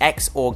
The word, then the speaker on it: XOR: complex to build and this is the zuhr gate which means the exclusive or gate you can also pronounce this as the xor gate and it's also known